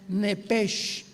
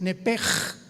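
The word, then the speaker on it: נפש: alma, la palabra hebrea nepesh, como suena, N de nana, E de Enrique, P de Enrique, E de Enrique, S-H, como suena, nepesh. Nepesh se pronuncia en el hebreo como J-L-S-H, es nepej, nepej.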